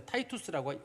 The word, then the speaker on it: Titus: TITUS입니다. 타이투스라고 읽거든요.